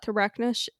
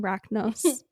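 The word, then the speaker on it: Racnoss: the people who shot Thrachnos, here I go again mispronouncing Rachnos.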